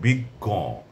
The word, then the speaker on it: বিজ্ঞ: শক্ত ভক্ত অনুরক্ত যত্র তত্র প্রাপ্ত ধর্ম কর্ম পদ্য তারপরে চিহ্ন গাছ এরপরে রয়েছে বিজ্ঞ প্রাজ্ঞ এ দুটি উচ্চারণে শেষের ওকারের সঙ্গে আপনার খানিকটা নাসিক্য প্রভাবিত উচ্চারণ চন্দ্রবিন্দু যুক্ত।